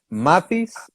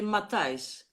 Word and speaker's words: Matthijs: I didn't know about Bob and Mathis. Is okay. Mathis is I'm saying it right. Well, in Holland we say Matthijs.